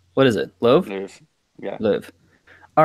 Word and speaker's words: Lowe: the tournament did you call them lo loo Louvre what is it Lowe yeah Liv all right pronunciation police thank you for that all right